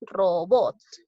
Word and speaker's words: robots: digo la palabra robots cuantas sílabas tiene dos no robots lleva la mayor fuerza de voz en la sílaba bots lo respaldó subraya robots